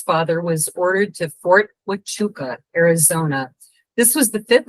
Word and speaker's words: Huachuca: It's tough pronunciation. My grandmother, you might have seen It's the easy book. once you say it, Huachuca.